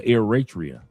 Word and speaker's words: Eritrea: But I just a lot of people a lot of people didn't know that Nipy Hustle was Uritria. Absolutely correct. He said he's pronounced or Eratria.